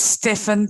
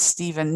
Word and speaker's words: Steven: name it's like with my name Steven pronounce its stiffen pronounce this Steven yeah but you also